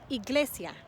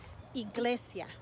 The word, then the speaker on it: iglesia: with i in spanish the sound is as in iglesia iglesia iglesia is a church there